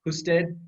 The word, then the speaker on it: Husted: got busted by Husted," but it's technically it's pronounced Husted, but it's fine.